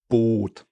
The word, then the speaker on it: Boot: Or boat. Boat. You really have like a oat, oat, and that's why, because we have 2 O's. So double vowels make the vowels even longer.